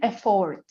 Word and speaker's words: effort: You open on the first syllable and then you close on the second.